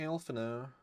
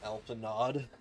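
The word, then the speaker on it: Alphinaud: Well, back to Alpha now. Man, Drew was very mad to find out that Alpha No is pronounced Alpha No and not Alpha Nod.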